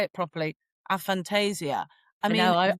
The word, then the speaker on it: aphantasia: And Julia, you telling us about, I want to say it properly, aphantasia.